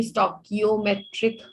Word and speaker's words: stoichiometric: ठीक है, yes श ma'am इज नॉट a correct pronunciation, तो बेटर टू से स्टोइकियोमेट्रिक कोएफिशिएंट।